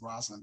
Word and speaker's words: Rosalind: And well, I should call Rosalind. I said Rosalind, but it's Rosalind Russell. That's how it's pronounced.